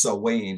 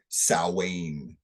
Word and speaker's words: Samhain: your history lesson eight s-a-m-h-a-i-n you'd pronounce it Samhain if you try to pronounce it phonetically but it's pronounced so Wayne like s-o-w-a-n salwain so if you just think s-o-w-a-n that's how it's pronounced and that's a pagan